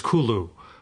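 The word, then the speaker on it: Cthulhu: I've have I've I've heard how Lovecraft actually pronounced cthulu uh from from Henry Wessel apparently it's Kulu really everybody's had the same reaction and he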